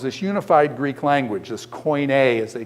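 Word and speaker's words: koine: of Hellenism was this unified Greek language this coin as they call it Greek language the common coin here's how you spell coin coin um k o i NE e coin a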